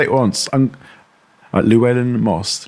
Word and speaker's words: Llewellyn: I'm Luwellyn Moss. Luwellyn Moss.